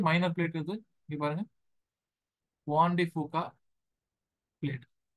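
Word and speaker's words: Juan de Fuca: ஸோ இதை ஜுவான்னு சொல்ல வேணாம், வான் வான் அப்படி அப்படி ப்ரொனவுன்ஸ் பண்ணணும். ஓகே, வான் டி ஃபூகா.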